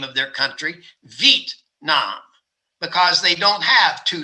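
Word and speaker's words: Việt Nam: of the country which a lot of americans pronounce as vietnam because it's spelled v-i-e-t and we would say v-at and that's two syllables but the vietnamese pronounce their name of their country vit nam because they don't have two syllables in v-et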